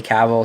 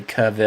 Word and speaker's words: Cavill: know how to say his last name I say caval some people say Caville it's it's caval Henry caval which sounds